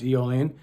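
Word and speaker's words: Aeolian: music mixian any eolian it's actually spelled a e o l i n but it's pronounce eolian and then longer locan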